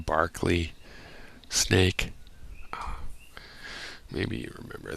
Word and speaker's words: Berkeley: ancient philosophers, and then I want to call him Berkeley, but don't they pronounce him Barkley?